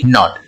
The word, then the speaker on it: knot: उसी तरह से NOT नॉट और KNOT नॉट, दोनों का साउंड सेम हो गया।